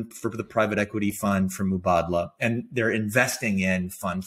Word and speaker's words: Mubadala: Mubadala, which is how you pronounce it.